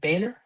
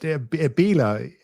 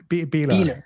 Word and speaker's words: Behler: Is it Baylor? I mean, how do Yeah. you? It's difficult to pronounce for anyone who's not German, but Behler, Beeler. Behler. Beeler. Yes.